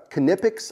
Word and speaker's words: Knipex: So these are the Knipex, I think is a proper way to pronounce it.